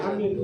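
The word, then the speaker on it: آمين: yang dengar yaitu pakai amin waladin amin bismillah ini juga benar kalau ditulis dalam huruf apa namanya ejaan latin a a n i i n Amin jadi a-nya agak panjang i-nya Min panjang enggak boleh Amin enggak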